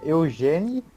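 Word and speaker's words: Eugénie: Principalmente que é em francês, mas é Eugène, com acento no E, do meio.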